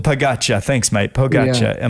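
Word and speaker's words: Pogačar: Young, I'm going to get his name wrong, and you did tell me pre-show. It's Tadej Pogacar. Pogacar, thanks, mate.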